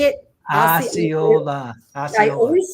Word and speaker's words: Osceola: It happened in Osceola, which is just south of Orlando, but it's in like Orange County.